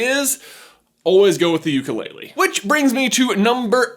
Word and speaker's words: ukulele: But after listening to a bunch of interviews with director Jim Murphy, I think the actual pronunciation is ukulele.